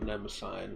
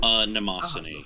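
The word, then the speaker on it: Mnemosyne: Rin, Daughters of Nemesine, which I guess it's not actually pronounced that way, but I've always heard it as Nemesine. Nemosine.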